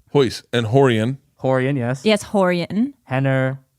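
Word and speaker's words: Rorion: that way try that so are you sure it's spelled royce but it's hoys and horian horian yes yes horienten henner hen yeah hyphen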